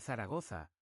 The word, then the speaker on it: Zaragoza: Y para el Zaragoza, la Z va con ese sonido como de aire en España. Tarragota, pero si te sales a tampoco te mueras.